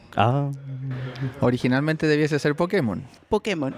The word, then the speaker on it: Pokémon: y más conocido en los bajos fondos y en las ferias jugueteras como el Pokémon legendario chileno.